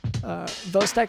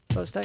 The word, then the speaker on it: Chvostek: The signs of neural hyperexcitability in hypocalcemia include the Vostek sign, and that's spelled like CHVOSTEK sign. That's Vostek sign, but it's Vostek sign.